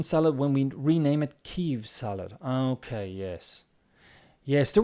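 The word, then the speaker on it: Kyiv: Also, Kiev, not long ago, was pronounced Kiev in English, but because that was the Russian pronunciation. And now people are asking to pronounce it Kiev, and now it's Kiev salad.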